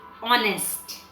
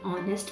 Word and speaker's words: honest: the s h is silent so it is pronounced as honest now o sound of o is a vowel